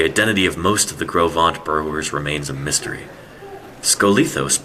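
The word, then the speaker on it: Gros Ventre: This reconstruction shows what kinds of animals may have lived in Wyoming during the Middle Cambrian period, when the Grovant, pronounced Grovant, formation was being deposited.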